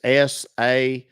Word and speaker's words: Sassohl: Last name is SASSOHL. It's pronounced Sasso.